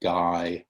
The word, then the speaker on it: Gaia: It was called Gaia, and you pronounce that Gaia.